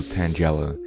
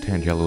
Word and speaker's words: Tangela: It's Flagella and Tangled, so Tangela.